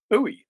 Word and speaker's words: Bowie: Louisiana is French-speaking territory, and you would pronounce Bowie Bowie there. Mm-hmm. So I presume that's how we got to Bowie and how it became the standard.